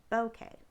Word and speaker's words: bokeh: to pronounce it so it sounds kind of like bouquet like a bouquet of flowers um emphasis on the bow so bokeh so this technique is